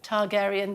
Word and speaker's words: Targaryen: how to say it House of Taran Targaryen Targaryen there you go we'll see you at the